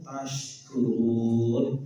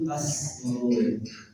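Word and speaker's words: تشكرون: Pakai syid ya. Syid. La'allakum taskurun. Gimana? La'allakum taskurun. Mudah-mudahan kamu menjadi hamba yang bersyukur. Tapi Bapak Ibu bacanya enggak pakai syid, tapi pakai sin. Laallakum taskurun. Pakai sin. Mudah-mudahan kamu menjadi orang yang suka mabuk. Taskurun dengan taskurun sudah beda, Pak. Satu pakai syin bersyukur.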